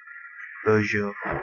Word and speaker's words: boujou: in here we will be using boujou it is spelled uh b o u j o u beaujo yes it is a 3d tracking device we